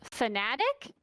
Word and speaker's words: Fanatec: hear: Logitech, Thrustmaster, and Fanatec. Mm. Now, you may hear it pronounced as Fanatic. I hear both. 50% of the time I hear Fanatec. 50% I hear Fanatic.